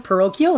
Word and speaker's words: parochial: I go to how do you say that parochial parochial is that how you say it yes what